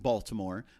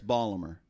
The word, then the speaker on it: Baltimore: Now we pronounce it Baltimore, but up there it's Balmer. Balmer. Balmer.